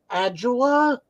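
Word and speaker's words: Ajala: I got to speak to, I don't know how to pronounce his last name, David Adjula, the That's guy right. who plays Booker. Yeah, that's right. Yeah, Adjula's right.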